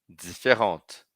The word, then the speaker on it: différente: Vou escrever com E no feminino e vou fazer a pronúncia ser diferente. Repitam comigo: différent, différente, différent, différente.